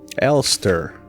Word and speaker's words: Elster: and these are the cards elster elster that's how you pronounce that's how you read those okay land